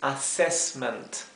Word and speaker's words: assessment: de dobles s verdad la doble s se pronuncia como una s es bien suave siempre mientras que la